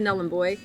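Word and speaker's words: Nhulunbuy: I did ask Kier and um I said, "So, how do you pronounce it? Null boy or Nully?" She said, "Namboy, but it's highly contested."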